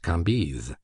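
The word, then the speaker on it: Cambis: was pronounced Levy, Kambes, C A M B I S, pronounced Kambes.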